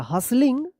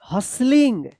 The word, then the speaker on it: hustling: Everyone was हसलिंग पढ़ेंगे, HUSTLING, यहां पे टी जो है ना साइलेंट रहेगा, हसलिंग।